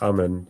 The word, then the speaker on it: Amun: It's pronounced Ammon.